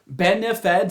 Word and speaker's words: BENEFEDS: Benefeds, that's how you say it, right?